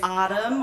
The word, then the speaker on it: Ahreum: me my name is autumn or uh it sounds like autumn the season a little bit but the first syllable is ah so autumn uh my